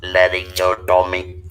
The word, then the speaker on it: laryngotomy: the world's first and please help me with pronunciation, is La, Larygnomet. Could you please tell that name, sir? It is laryngotomy.